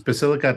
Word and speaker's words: Basilicata: second one came from can you give us the right pronunciation for that yes it's basilicata and pulia it was also implemented